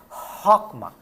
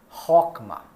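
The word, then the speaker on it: Chokmah: Rockmar. Atenção. CH, pronúncia de como no alemão. E Rockmar.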